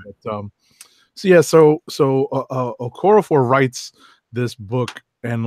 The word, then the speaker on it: Okorafor: Nnedi Okorafor. Right. I kept wanting to call her Okafor, like like all the basketball players who are named Okafor. But so Okorafor writes this book, and